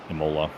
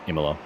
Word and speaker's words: Imola: here um at uh Imola IMA sorry I keep pronouncing it wrong it's it's IMA um who's uh navigating